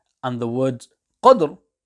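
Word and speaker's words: قدر: 2 and the word Qadr, there is a qalqalah letter which is dal, hence in verses 1 and 2, the qalqalah will join to the ra, whereas in verse number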